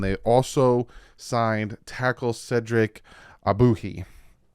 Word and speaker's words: Ogbuehi: also signed tackle Cedric abuhi that's who you pronounced his name I looked that one up because you look at it and you're like excuse me abuki is his name so the dolphins go